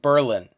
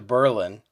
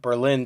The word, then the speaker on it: Berlin: spelled but of course in world war ii they changed the pronunciation to berlin because they didn't want the association obviously and there still